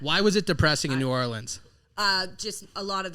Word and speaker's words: New Orleans: and how was uh nollens uh new orleans was depressing that's how they say it down there man right am i